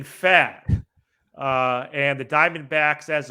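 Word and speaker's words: Pfaadt: Wicks against Brandon I I believe the pren is it is it fat I believe so yes Brandon fat uh and the Diamondbacks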